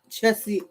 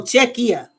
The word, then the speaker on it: Czechia: Yeah, Chessie. Well, hold up. Pronunciation. Here. Okay, I want to hear it. Oh, Czechia.